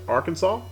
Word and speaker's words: Arkansas: spelled exactly the same however the state is pronounced arkansas the river is pronounced arkansas don't know why